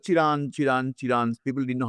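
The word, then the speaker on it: Chirand: Chiran Chiran people didn't know how to pronounce. Anyway, so it's C H I R A N D. It's Chirant.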